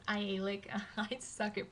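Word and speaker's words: Aialik: also saw the ialak glacier I know I pronounced it ionic Glacier in my video when I was actually filming the glacier itself it's not ionic it's ialik I suck it pronunciation but anyway it was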